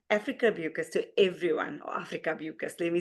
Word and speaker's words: Afrika Beukes: to introduce Don Afrika Beukes to everyone, or Afrika Beukes, let me say it properly.